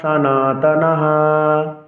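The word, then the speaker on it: সনাতনাঃ: কলায়ে প্রাণশন্তি আলা ধর্মাস সানাতনাহ সানাতনাহ সনাতনা বলা যাবে না সানাতনা বলতে হবে কেননা সংস্কৃত শ্লোক উচ্চারণে দন্তশকে এস এর মত উচ্চারণ করতে হয় উলাধারমাস হ্যা ছন্দের গঠন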